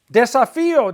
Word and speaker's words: desafío: Desafío, desafías, desafía, desafían, accent on the I.